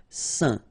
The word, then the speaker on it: saint: Okay, combination of A, I, N phonetically will give you this un pronunciation. Saint.